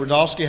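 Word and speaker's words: Rudofski: rodofsky that's r-u-d-o-f-s-k-i and it's pronounced Rudolph and then ski all right special agent rodolski how you doing today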